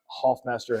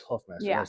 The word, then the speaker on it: Hoffmaster: Well, you should hear people pronounce Hoffmaster as Huffmaster.